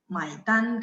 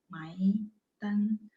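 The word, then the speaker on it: 买单: Berasa nggak bacanya nada 3? Kalau yang perhatiin, Maitan, dan tulisannya ada mainnya mai beli.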